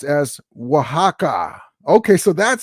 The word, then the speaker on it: Oaxaca: MKI Sports says, it's pronounced Waha. Okay, there we go. Thank you. It's pronounced as Oaxaca.